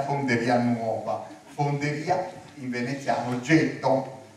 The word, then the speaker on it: ghetto: fonderia in Veneziano getto Poi i primi a arrivare erano tedeschi e non ce la facevano pronunciare la parola getto E dicevano Ghetto tant è vero che oggi ci mettiamo una bella Asca per evitare possibili pasticci quindi po è diventata una